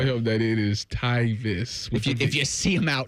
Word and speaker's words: Tyvis: He says Titus, and I said, and Jeff goes, it's Tyvis, and then we go, how do you say your name? Tyvis.